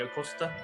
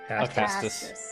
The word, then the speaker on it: Acastus: the Lord himself, King Acosta. How do you say it again? Acastus. Acastus. I keep putting an O there.